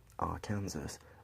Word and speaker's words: Arkansas: a brown stretch of the Arkansas, pronounced Arkansas, River, on the north by a highway, Route 50, and on the east and west by prairie lands and wheat fields.